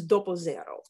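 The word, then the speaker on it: doppio zero: like our unbleached all-purpose flour in italian it's doppo zero and this uh is has about 13 protein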